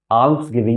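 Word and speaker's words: alms giving: আর্মস গিভিং কিন্তু উচ্চারণটা হবে আর্মস গিভিং।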